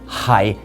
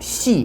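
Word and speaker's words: 係: But if you look back only a couple of hundred years, you can see that same character, hai in Cantonese, which is pronounced xi in Mandarin, was in use in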